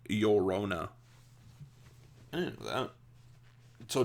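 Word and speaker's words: Llorona: the name you say Laona like this Laona uh in Spanish pronunciation um the L's the double L's in Spanish is pronounced like a y and in English it sounds like yorona I didn't know that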